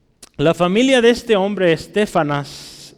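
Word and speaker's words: Estéfanas: familia de este hombre stefan as lleva un acento en la segunda de stefan as es muy interesante y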